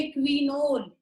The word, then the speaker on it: quinol: और जब भी आपका OH 1 और 4 पे होगा, तो उसको हम बोलेंगे क्विनोल।